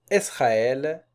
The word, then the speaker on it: Israël: Plus rarement, c'est rare qu'on trouve le tréma sur le E ou bien le U, pour signaler que la voyelle précédente doit être prononcée séparément. Exemple, Israël, Noël.